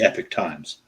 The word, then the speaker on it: Epoch Times: Yeah, it's spelled like Epoch, but they call it the Epic Times.